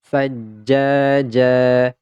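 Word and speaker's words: ثجاجا: akhir ayat maka ini tidak lagi dibaca Jan tetapi dibaca ja ja sama seperti ini Sama juga seperti ini n jadi apabila ada tanwin ya Ada tanwin nih di akhir ayat maka ini pasti dibacanya nya berharakat fathah jadinya kemudian dipanjangkan dua harakat sajjaja sajjaja kita ulang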